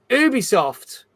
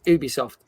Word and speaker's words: Ubisoft: you have probably heard about this but basically Ubisoft had to basically write a four page apology